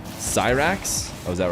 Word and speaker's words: Cyrax: with both actually dog and some cats it's pronounced Cyrax oh was that right like he's a scientist